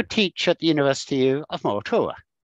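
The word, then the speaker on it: Moratuwa: However, I also teach at the University of Moratura. Am I pronouncing it right? Moratura? Yeah, Moratura. Yeah, that's right.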